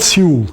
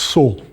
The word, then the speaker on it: Seoul: It's not Seoul, it's Seoul.